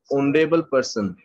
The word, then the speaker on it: honorable: oh that's a vowel honorable person oh sound is there some other words of